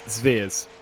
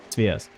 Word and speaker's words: Sveers: It's not Sviers or Sviers. It's Sveers. Sveers. Yordi Sveers.